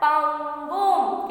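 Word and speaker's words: पङ्गुम्: तो उसको प्रोनाउंस क्या होगा ये वर्ड का, पंगुम। क्या होगा, पंगुम, बरोबर है।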